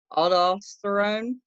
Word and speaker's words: aldosterone: But the more important job is making 2 steroid hormones, cortisol and I don't know how to pronounce this, but aldosterone.